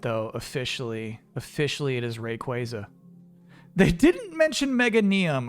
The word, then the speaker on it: Rayquaza: and then was Rayquaza and they're like it's pronounced Rayquaza and I'm still reeling I'm they messed me up is it though officially officially it is Rayquaza they didn't mention Mega neum I wish it